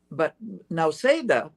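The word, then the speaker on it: Nausėda: But now Seda, this is some news for you, is spelled Nauseda, now Seda.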